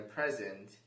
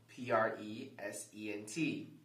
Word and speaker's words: present: do they sound different that is because we are stressing different syllables of the word present is a two-syllable word consisting of the two syllables pre and descent when you combine the two syllables it becomes present present stresses the second syllable